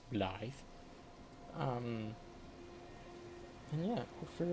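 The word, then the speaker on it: Blaidd: Apparently that's his name, not Blade. It's pronounced Bllythe.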